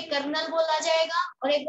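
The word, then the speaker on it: kernel: Null space भी बोल देते हैं, कर्नल भी बोलते हैं। वैसे ये कर्नल नहीं होता, ये होता है कर्नेल।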